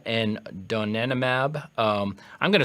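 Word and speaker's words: donanemab: uh we talked about earlier that's leanimab and donenomab. Um, I'm going to spell those uh for folks in case my pronunciation is terrible.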